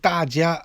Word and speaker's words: 大家: 중국에서 돼 가는 요 중국 발음으로 따지 야 라고 합니다 이 여러분 이라는 뜻입니다